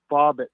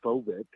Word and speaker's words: Fobbit: Yeah, it's pronounced Fobbit, not Phobit.